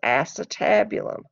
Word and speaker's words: acetabulum: things this is the acetabulum it's spelled like ace tabulum and it's actually where